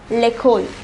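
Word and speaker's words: l'école: school l a positive we read it as lekhol the next word is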